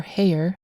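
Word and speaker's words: Haigha: in the story are haer a name that rhymes with mayor and hat both reincarnations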